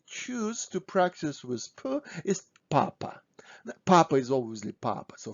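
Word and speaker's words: папа: so this is papa papa stressing is on first ah papa so pause my video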